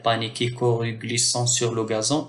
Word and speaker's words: gazon: coru glissant sur le gazon ici le G suivi d'un a g donc se prononce g gazon mais le gâteau grandissait